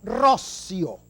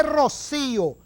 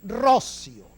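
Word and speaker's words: Roscio: El 210 aniversario en el que dos insignes venezolanos, Juan Germán Rossio, no se dice Rocío, como he escuchado yo por allí unas cosas, Juan Germán Rossio y Francisco Isnardi redactaron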